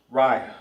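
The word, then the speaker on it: רע: Ry R I Ry. short, short and to the point. Bad in Hebrew is ry cuz you can't say rupt I because there's no a right there.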